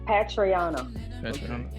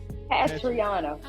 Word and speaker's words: Patrionna: Patrionna. Okay. I can't read that well. I'm sorry. Patrionna.